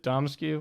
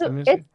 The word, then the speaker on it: Dimitrescu: So you would think that you pronounce the U, but you don't.